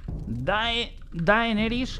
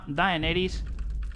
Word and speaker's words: Daenerys: Y el nombre, pues se va a llamar por aquí Daenerys, con Y, Daenerys Targaryen. Se escribe con E, aunque en castellano creo que se pronuncia con A, ¿vale? Nosotros decimos Daenerys Targaryen.